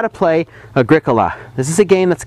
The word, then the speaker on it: Agricola: brief word about pronunciation agria is the Latin word for Farmer it has four syllables and is accented on the second syllable much like curriculum it is not pronounced Agricola please say after me Agricola and now to board